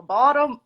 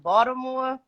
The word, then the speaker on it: Baltimore: Uh, Baltimore, You gotta say like Baltimore. Baltimore. So if you're not from Baltimore, you say it like Baltimore.